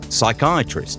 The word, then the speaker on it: psychiatrist: I was thinking about this silent first letter you know like say pneumatic with a pea at the staff psychiatrist also with a pea